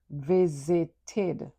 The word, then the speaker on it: visited: Visit is a twocllable word. But when you add e d, it becomes visited. Three syllables. The ed d sounds like itid. So you you get visited.